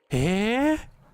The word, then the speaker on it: へ: 後ろ、え、 Eh? Exactly like that. へ、 So here, he is pronounced e, え、 right?